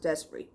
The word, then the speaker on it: Despre: I pronounce it Despre. Okay, this is the new album from the band Despre.